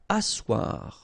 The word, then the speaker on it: asseoir: Asseoir, okay, remember you've got this beautiful but then phonetically doesn't exist. Asseoir, remember double S here, it's really strong s, really strong S, okay, so asseoir.